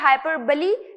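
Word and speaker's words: hyperbole: हाइपरबली इस तरीके से इसे प्रोनाउंस करना है, ठीक है?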